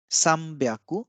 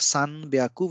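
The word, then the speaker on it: 三百: So instead of Sanbyaku, we call it Sambyaku.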